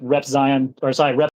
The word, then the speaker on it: Repzion: And then what happens is someone like Rep Zion comes out no. There we go, Repzion. Congratulations, first time you've ever pronounced it correctly.